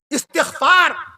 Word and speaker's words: استغفار: میں عرض کر دوں آپ سے صحیح لفظ اس طریقے سے استغفار. صحیح لفظ ہے استغفار، استغفار نہیں ہے. استغفار کبھی نہ کہیے گا، استغفار پڑھیے. آدمی کہتا نہیں ہے استغفار پڑھنا چاہیے، نہیں، استغفار نہیں، استغفار.